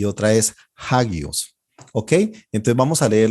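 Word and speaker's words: ἅγιος: No se leería agios, sino hagios.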